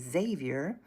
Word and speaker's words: Xavier: His name is Xavier, and his book is titled Xavier, Xavier, Xavier. My name rhymes with Savior.